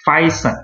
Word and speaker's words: Phison: So this pronounce is Phison, okay? The five from the physics. I name this as a five person. So we take the five son.